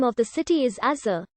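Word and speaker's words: עזה: The Hebrew name of the city is Azar. The ayin at the beginning of the word represented a voiced velar fricative in Biblical Hebrew, but in modern Hebrew, it is silent.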